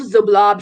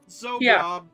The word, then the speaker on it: Xoblob: One of the more notable ones that you pass by would be Old Zoblob's shop.